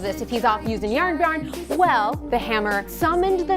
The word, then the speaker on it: Jarnbjorn: That's how you say it, Jarnbjorn.